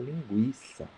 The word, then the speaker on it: linguiça: Mas como tem um trema ali, você, não, tem que pronunciar linguiça, porque tem um trema no U.